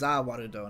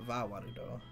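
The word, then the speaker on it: Za Warudo: No, it's Zawarudo, not Vawarudo. Is there a Let me see way if for I me can- to...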